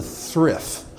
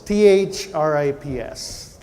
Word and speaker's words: thrips: me to start with is what is a thrift thrift thrift spell it for us th RI PS what is a thrift what are thrips and